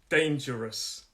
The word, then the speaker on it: dangerous: the next one dangerous dangerous three syllables dangerous first syllable is the stressed syllable uh first of all is the stress syllable so it's dangerous dangerous so it's that j sound in the middle dangerous and if it's